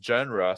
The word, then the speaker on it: genre: Really soft G, genre.